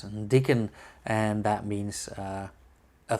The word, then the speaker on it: Diquen: sure about that but I would say this is uh pronounced as dickon and that means uh